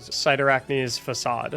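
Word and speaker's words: Cyrtarachne's Facade: I said it right cider acne's facade which is how you pronounce it I promise we all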